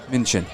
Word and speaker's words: Minchin: Minshew or Minchin? Minchin. I apologize to any family members that are watching for that mispronunciation, but I've been doing it all night, so full count.